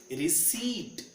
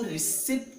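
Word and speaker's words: receipt: We call it रिसीट। इसको रिसीप्ट नहीं बोलते हैं। What we call it? रिसीप्ट।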